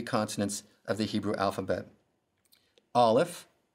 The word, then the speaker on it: Aleph: Let's begin with Aleph. It's the first letter of the Hebrew alphabet, and it is silent in its pronunciation.